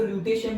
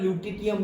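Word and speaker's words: lutetium: Okay, done, cerium से लेके इसको ल्यूटेशियम भी बोलते हैं और ल्यूटिटियम भी बोलते हैं।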